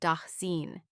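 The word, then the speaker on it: Dasein: He used the German term daen pronounced denine.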